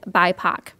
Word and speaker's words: BIPOC: who you're talking about so that's how you pronounce it it is bipac next one for definitions